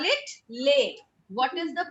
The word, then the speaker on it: les: What is lay? L-E-S. It's called lay.